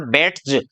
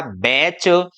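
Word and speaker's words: batch: तो जैसे देखिए यहाँ पर है टीसीएच, तो ये इसको बोलेंगे हम बैट्स। तो बैट्स यदि बोलते हैं तो गलत हो गया, इसलिए हम इसको बोलेंगे क्या? बैच, कैच, मैच, वाच, विच, लिसन।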